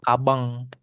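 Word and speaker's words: かばん: Nah cara bacanya sih sebenarnya eh cara nulisnya itu ka ba sama n gitu ya. Tapi dibacanya kabang kabang pakai eng belakangnya untuk bilang banyak takusang gitu ya.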